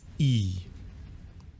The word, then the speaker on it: I: Unfortunately, the letter I in German is pronounced E, which is generally how we pronounce our letter E.